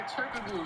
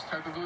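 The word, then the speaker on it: Türkoğlu: me some weeks ago when I was pronouncing Turkoglu as Turkoglu because you're not supposed to pronounce a G, but I don't care. That's how his name is spelled.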